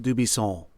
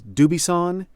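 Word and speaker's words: Dubuisson: out of France, and in his home country, his name is pronounced Dubisson, right, with a Gallic N that all sound in your nose. Mm-hmm. But in the United States, we either say his name is Dubisson or Dubisson, hard N.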